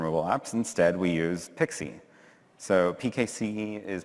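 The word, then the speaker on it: PKCE: client secrets from mobile apps instead we use pixie so pke is pronounced pick C stands for proof key for code exchange it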